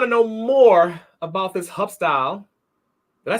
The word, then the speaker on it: Hub-Style: So if they want to know more about this Hubstyle, did I say it right?